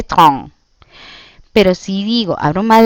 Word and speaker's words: train: Si yo digo le train, simple, sin abrir mucho la boca, estoy diciendo el tren y lo hago nasal, le train.